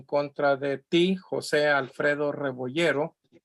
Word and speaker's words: Rebollero: José Alfredo de Rebollero. I'm sorry, I knew I was pronouncing it incorrectly because the double L is a Y sound.